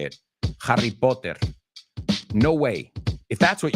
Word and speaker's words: Potter: Harry Potter. Now, they would say Harry Potter, as I've said many times here on the show. The British say the T. We say it like a D.